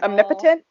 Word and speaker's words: omnipotent: know if omnipresent is a word i know omnipotent is a word but it's actually not yes it's pronounced omnipotent and i just pronounced it wrong in my